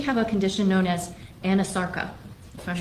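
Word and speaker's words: anasarca: a condition known as anosarka? If I'm not mispronouncing it. No, you're pronouncing correctly. She did have a condition called anosarka.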